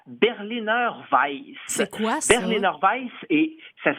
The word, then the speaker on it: Berliner Weisse: Berliner Weiss, et ça s'écrit là Weiss, W-E-I-S-S-E.